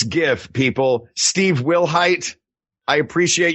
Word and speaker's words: GIF: It's GIF.